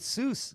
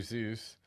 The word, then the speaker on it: Seuss: to partner up with soos yeah juice ensues it says there that uh in the third row dr zeus uh it says uh there that you can pronounce it either way now we're getting in